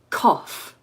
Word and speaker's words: cough: write it down for you don't be confused cough is how you pronounce that and that's just what I did